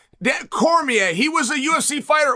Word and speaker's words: Cormier: Apparently, he's like an equal partner in it, which I didn't know, but thank you for giving his it's pronounced Cormier. Cormier, he was a UFC fighter at one time.